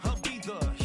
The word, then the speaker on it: Ibiza: Yeah, it's pronounced Ibiza, actually. What's the difference, man? Ibiza, or Abitha.